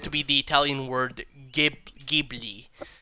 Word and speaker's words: Ghibli: at some point I probably talked about Studio Ghibli, right?